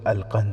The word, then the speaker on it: القنص: نام بھی لکھا ہے۔ نام القنص تھا، جس کا تلفظ القند ہے۔ وہ مصری مسلمان تھا،